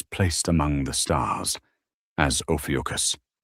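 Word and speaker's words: Ophiuchus: Ofucus, pronounced OPWCUS, isn't some modern internet hoax.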